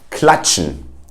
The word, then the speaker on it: klatschen: Then if you see a TSCH, it will be pronounced as a ch, as in chair, and you have it in words like klatschen, which means to clap in German.